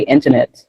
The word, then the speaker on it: internet: Yeah, because of the way the syllables are separated, where do you put the stress when you say internet? In. Because you put the stress on in, really the other syllables are weaker.